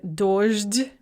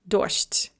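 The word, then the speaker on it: дождь: So dojd becomes dosht.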